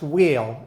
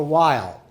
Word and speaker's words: Weil: the right it's simple if you're born on the French side you have a French pronunciation which is wheel or V if you're